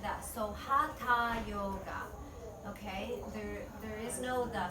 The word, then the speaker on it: Hatha: You say the H before the A and the first syllable.